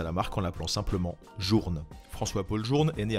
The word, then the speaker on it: Journe: numéro 7 fp journe fp journe se prononce comme on le lit c'est son fondateur françois